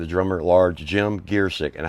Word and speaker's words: Giercyk: Back with the drummer at large, Jim Giercyk, and how you pronounce that. And I actually learned this from John Hoyt. It's Giercyk, and you got a story to tell about that later.